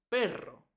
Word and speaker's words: perro: cuando tenemos doble r cuando una palabra tiene doble r siempre suena por eso decimos Pero y decimos perro después tenemos la s